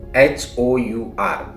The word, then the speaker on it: hour: Again अवर spelling is HOUR. It starts with H consonant, but it sounds like vowel, so that we should use article an hour.